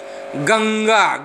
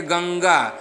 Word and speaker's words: गंगा: गंगा, गंगा उच्चारण देखिए गंगा, यानी कि पांचवा वर्ण अंग छुपा हुआ है।